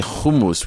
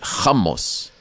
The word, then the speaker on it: hummus: this country so it's we say hummus totally different we don't say hummus we say hamos so would I go